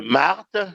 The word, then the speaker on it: Marthe: écrire le prénom de Marthe, que j'écrive juste comme j'ai entendu, M-A-R-T-E, non. Il ne faut pas que je méprise ou que je saute le H muet qui est là.